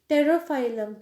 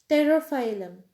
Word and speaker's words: Pterophyllum: Pterophyllum. P is silent here. Pterophyllum.